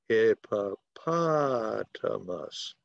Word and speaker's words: hippopotamus: But the stress comes on hippopotamus, okay? So the accent goes on the third syllable, hippopotamus, okay?